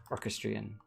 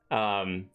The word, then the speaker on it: orchestrion: Orchestrion. Orchestration. No. Orchestra. No, but orchestrion just is way better. I like my pronunciation better, okay? I like the first one you said orchestrion, like it was some sort of horse race or something. Orchestrion. Yes, very good.